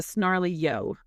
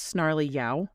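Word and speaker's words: Snarly Yow: So, this is called um the snarly yo. And I'm trying to figure out if I'm saying that right. I think it's snarly ya like cow. It's spelled y.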